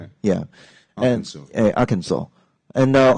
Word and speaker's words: Arkansas: how to say this I used to say Arkansas okay I think many people do yeah but actually it's very strange Arkansas really yeah Arkansas and the stress is on the second syllable yeah